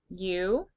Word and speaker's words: you: You is a heart word. Y, O, U. The OU makes the oo sound.